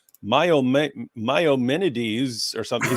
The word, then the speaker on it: Maimonides: how he pronounced it, but he was like, Maimonides or something. He said something. He gave some ridiculous pronunciation, and then I was responding. I go, okay, so Maimonides. He goes, oh, I pronounced it wrong, and I was like, I